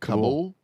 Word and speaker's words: Kabul: Kabul?